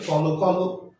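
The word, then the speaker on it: কলকল: তো ধনাত্মক শব্দগুলো উচ্চারণের সময় ধনাত্মক শব্দগুলোর অন্ত অ অবশ্যই ওকার উচ্চারিত হবে। ধনাত্মক শব্দগুলোর অন্ত অ অবশ্যই ওকার উচ্চারণ হবে। এটার উচ্চারণ হচ্ছে কল কল কাদ কাদ ছল ছল।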